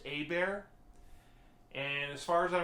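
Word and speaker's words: Hebert: hooked me up with his name was lionel hey bear it's spelled herbert but it's pronounced a bear and as far as i remember he was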